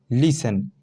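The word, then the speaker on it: listen: जैसे example, L आई एस टी ई एन, लिसन, यहाँ क्या है, टी साइलेंट है, ठीक है, लास्ट में टी ई एन आ रहा है ना, टेन, यानी तो क्या है, यहाँ टी साइलेंट है, लिसन।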